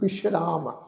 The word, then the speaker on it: विश्राम: नाम जपत पावें विश्राम, ससे दे पैर बिंदी लगा के पाठ उच्चारण करांगे जी विश्राम, ठीक है जी।